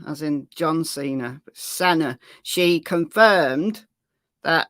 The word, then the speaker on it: Sena: I keep saying Cena, as in John Cena, but Senna. She confirmed that the surname is pronounced Senna.